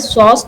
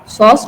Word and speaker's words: psoas: उसी तरीके का कुछ स्ट्रक्चर यहाँ मिलता है एंड इट is named as Sos tubercle, PSOAS. ठीक है, P is silent in this Sos tubercle.